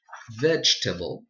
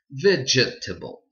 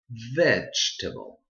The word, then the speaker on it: vegetable: one is easy because the silent letter we don't even pronounce it and it's straight in the middle of the word so you change totally